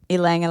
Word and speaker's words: Ylang: Okay, I don't know how to pronounce this. Ylang? Ylang, yeah. Ylang.